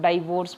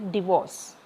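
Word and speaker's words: divorce: Important है 7 का डिवोर्स, आपने बहुत बार सुना भी होगा, कोई इसको डाइवोर्स बोलता है, कोई कुछ बोलता है, लेकिन आज आपको इसकी सही प्रोनाउंसिएशन सीखोगे, डिवोर्स।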